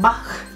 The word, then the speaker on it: Bach: de bach sé que mucha gente lo dice bach ovas pero yo lo digo como la pronunciación alemana como johann sebastian bach así que bueno flores